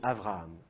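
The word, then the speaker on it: אברהם: Alors, quand on dit « Abraham », nous on dit « Abraham » avec un « b », et bien en hébreu, on dit « Avraham ».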